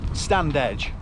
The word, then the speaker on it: Stanage: So we're now about 45 kilometres in, and we're coming up to the, is it Stanage cutting? Stand edge. It really is. It's pronounced Stanage, but it's stand edge.